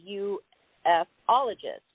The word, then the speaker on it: ufologist: thing you are a u-f ologist am i pronouncing that correctly that's right again some people pronounce it that way and some people call it ufologist however you like to